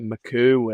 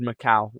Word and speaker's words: Macau: time and we're like how do you kind of pronounce this because like people obviously call us like Maku and all all sorts but um yeah it's called Macau and it's from Macau